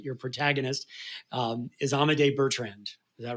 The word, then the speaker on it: Amadei Bertrand: and help me make sure I get the pronunciation right your protagonist um is amade Bertrand is that right that's right and it said